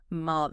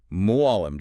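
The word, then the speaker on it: معلم: Because when you say it, there's a sort of deep catch in your throat. Muam just sounds flat when I say it. You have an excellent ear. Yes, there is a sound there that simply does not exist in the English language.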